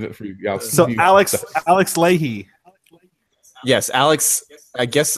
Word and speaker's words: Lahey: for you Alex Alex Lahey yes Alex I guess I guess that's how you pronounce it Alex Lahey or LaHaye yeah it's a she